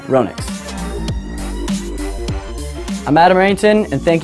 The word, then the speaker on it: Ronix: some funny hashtags in there and also the phonetically correct way to say a company's name Ronix I'm Adam errington and thank you for checking